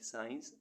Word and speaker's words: science: ऐसे वर्ड्स जिनमें अल्फ़ाबेट सी साइलेंट रहता है। SCENT सेंट, सेंट मीन्स गंध। SCENCE सीन, सीन मीन्स दृश्य। SCIENCE साइंस, साइंस मीन्स विज्ञान।